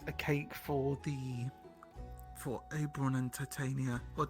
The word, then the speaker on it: Titania: We can get a cake for Oberon and Titania, or Titania. Is it Titania or Titania? Generally, I've heard everyone call them Titania. So I'm going to assume that that's the pronunciation they prefer.